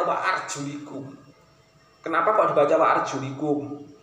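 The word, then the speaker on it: وَأَرْجُلِكُمْ: Bukan arjulakum, tapi harus arjulikum. Termasuk dari kalangan Syafi'iyah, termasuk kita sampai kemudian yang sampai ke kita qiraah yang sampai ke kita itu adalah qiraah Hafs. Nah, qiraah Hafs ini membacanya wa arjulikum.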